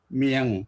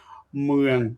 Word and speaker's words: เมือง: ก็ คือ เป็น คน เมียง เนี่ย นะ อ่า ถ้า คน ถ้า คน เหนือ เนี่ย เ จะ เลือก คน เมียง เวลา ออก เสียง เมือง ความ จริง น่า จะ ต้อง ออก เสียง เมือง นี่ นะ คน เมือง เป็น